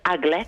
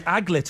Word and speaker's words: aglet: Yeah, they're called I think it's pronounced aglet. Oh, ladies and gentlemen, you are Yes, Liz. It is the aglet.